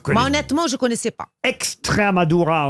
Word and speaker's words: Extremadura: Extremadura en espagnol, mais en français, ça s'écrit l'Estrémadure ou Madour, évidemment, mais en espagnol, il y a un X, mais pas en français.